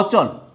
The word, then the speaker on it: অচল: এই ধরনের শব্দগুলোতে মধ্য অ এর উচ্চারণটা কি হবে? উকারের মতো হবে না, অর্থাৎ এটা যা থাকার তাই থাকবে, শব্দগুলো কোনো পরিবর্তন হবে। যেমন অচল, অচল এটা হসন্ত চিহ্ন হবে শেষে একসাথে উচ্চারণ করার সুবিধার্থে।